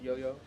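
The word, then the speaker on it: IOIO: controller board called the Iowa I oh it's pronounced yo-yo but it's basically just that and so you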